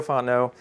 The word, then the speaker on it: Fontenot: say your last name so it's basically it's all there except for the last T it's just extra so you just pronounce it all until you get to the T and you'll be fine um so I'm working